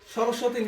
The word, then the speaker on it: সরস্বতী: তাহলে সরস্বতীকে কি রকম উচ্চারণ করতে হবে? সরস উয়তি। আবার অনেকে বলে ওয়াতি, কি বলে? ওয়াতি বলা যাবে? এখানে কি আকার আছে? আকার তো নাই, তাহলে কি বলতে হবে? সরস্বতী।